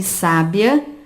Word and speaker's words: sábia: Sabia e sábia apresentam a penúltima sílaba tônica, que nós chamamos de palavra paroxítona.